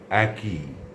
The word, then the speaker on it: একই: অর্থাৎ তার উচ্চারণ হবে একই।